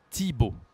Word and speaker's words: Thibaut: Par exemple, ici, Thibaut, il y a TH et on dit T, Thibaut.